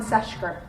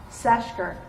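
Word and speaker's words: Ceshker: you, I use Seshker. C-E-S. I'm going to spell this one time. Seshker. C-E-S-H-K-E-R. Wait a second. Go slower. C-E-S. C-E-S-H-K-E-R. Seshker.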